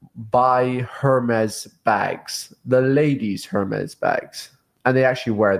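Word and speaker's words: Hermès: First of all, is it Hermes or Hermes? Like I think it's the French pronunciation is Hermes. It's not Hermes.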